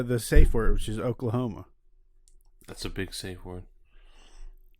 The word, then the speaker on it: Oklahoma: safe word which is oklahoma that's a big safe word dude it's three syllables wait no it's four oh claw home yeah it's just hard